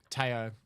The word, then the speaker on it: Teo: Teo. Because it's Teo, like okay. it's the Dutch pronunciation of it, like Theodorus.